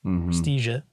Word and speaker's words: Praestigiae: Praestigiae. Mm-hmm. Yeah, you said it right. So she knows how to pronounce it.